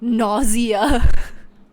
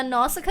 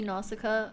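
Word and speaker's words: Nausicaä: At a glance, I was like, nausea. Girl, you know that's how I would pronounce it on the spot. Yeah, Nausicaa is next.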